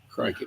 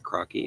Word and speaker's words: crikey: Crikey, mate. Crikey, cranky. Crikey. It's not crocky, it's crikey. It's like crying with keys.